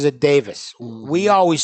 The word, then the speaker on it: Davies: who was working with Ray Davis and he pronounces it Davis we always said Davies cuz that's the way it's because that's the